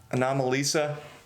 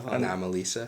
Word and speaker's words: Anomalisa: I mean, yeah, because that was a made-up word. Because the word is anomaly, and he added Lisa to it. Like a girl, Anomalisa.